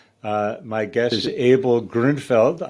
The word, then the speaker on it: Grünfeld: my guest is abel gruenfeld i'm practicing my german pronunciation there in america we would say grunfeld but it's grundfeld abel how are you